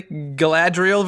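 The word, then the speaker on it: Galadriel: versus Elsa you have let's see if I pronounce this correctly gadriel versus Leia yes correct Mrs Claus versus Mary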